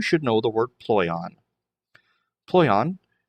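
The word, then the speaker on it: πλοῖον: Then it has a easier pronunciation help, ploion. Ploion.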